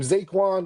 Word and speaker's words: Zaquan: Zaquan. That's how you say his name? Zaquin?